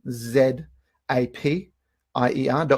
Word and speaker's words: Zapier: with tools like zapier z AP i ER comm some people pronounce it as AP a-- pretty sure it's zapier because the things are called zaps anyway in zapier there